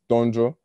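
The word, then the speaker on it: Tondjo: my middle name it's the african name is donjo so it's spelled t o n t-o-n-d-j-o and they call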